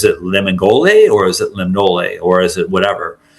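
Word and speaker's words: Lemngole: I pronounced it the way that she told me how to pronounce it. It's Lemnole, without the G.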